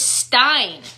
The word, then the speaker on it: Stein: It was Stein, and it rhymed with fine.